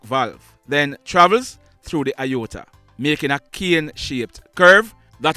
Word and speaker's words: aorta: he had a ruptured aorta. Question: do you know what is called the aorta? Well, firstly, it is spelled A-O-R-T-A. So, it's not pronounced how it's spelled.